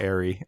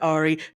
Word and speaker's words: Ari: not Ari Aster who I believe his name is Ari not ay as you said oh oh oh I stand corrected I stand corrected Ari love it so yeah